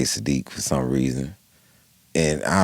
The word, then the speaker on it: Siddiq: Right, My name is Siddiq. His name is Saadiq. right. It's actually pronounced different.